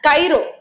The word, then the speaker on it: chiro: அடுத்து பாத்தீங்கன்னா கைரோ. கைரோ அப்படிங்கிறது கை. சரியா? கை, கை, அது கைரோ அப்படின்னு நீங்க ப்ரொனவுன்ஸ் பண்ணீங்க அப்படின்னா அது கை அப்படிங்கிற இது வருது.